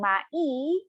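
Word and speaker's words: 毎: Again, this should be, it is written as a 2-syllable, but when you pronounce this, it sounds like a 1-syllable, all right? Instead of saying mai, we say mai for every.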